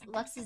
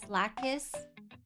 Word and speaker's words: Lacus: And you're supposed to pronounce it like lux.